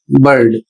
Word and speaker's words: bird: इसमें नियम है कि जब आई के तुरंत बाद, यहां पर देख सकते हैं आई के तुरंत बाद आर आता है, तो आई का अपना साउंड बदल जाता है और वह साउंड किस रूप में हो जाता है, तो आई का साउंड आ हो जाता है।